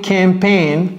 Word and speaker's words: campaign: For its new marketing campaign, ce mot n'est pas évident du tout parce que ça se termine par G et N, ça fait bizarre, n'est-ce pas?